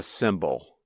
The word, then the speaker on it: symbol: Two words that make exactly the same sound in English are called homophones.